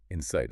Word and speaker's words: Inseyets: The product is called Inseetings, Insight. which is a terrible name, by the way. It's spelled Inseyets.